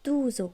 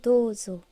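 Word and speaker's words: どうぞ: Comme dozo, qui veut dire je vous en prie, ce n'est pas douzo, c'est bien dozo.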